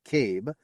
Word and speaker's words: CAIB: it was such a beautiful day Death by PowerPoint in August 2003 the Columbia accident investigation board or caib pronounced Cabe introduced its findings after